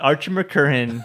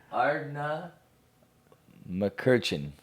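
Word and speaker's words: Ardnamurchan: It's the Ardmacurchin. Ardmacurchin. Ardmacurchin. No, I said it wrong too. Okay, please say it correctly. God dang it. Ardna McCurchin.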